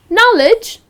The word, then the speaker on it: knowledge: So knowledge its again, the K is silent and the correct pronunciation is knowledge, with a N and not with a K.